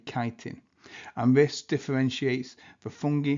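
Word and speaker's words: chitin: of a chemical called kitin. I know it's spelled chittin but it's a kitin and this differentiates the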